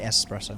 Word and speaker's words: espresso: yeah that was it sorry espresso martini i accidentally uh pronounced an x in there which is not the thing it doesn't exist yeah so what an